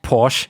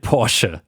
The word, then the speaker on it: Porsche: way Guys small reminder it's actually not pronounced Porche you should call it por anyway I drive it